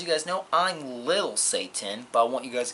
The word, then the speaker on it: Satin: As you can see, it's pronounced Satan as in S-A-Y-T-I-N. Satan.